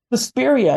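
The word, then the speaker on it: Suspiria: Um, Sespira, am I saying it right? Speria.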